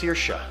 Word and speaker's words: Circe: I found out that that's not how you pronounce that name it's circia so we had to think of a new